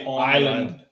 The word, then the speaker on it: Islay: This is not Islay, although Islay sounds better. It does look like Islay. It's spelled Islay, but Isla.